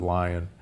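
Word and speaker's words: Lyon: humans which was called the lion heart diet or the leone heart diet l-y-o-n but most from leon france but most people pronounce it lion there that diet in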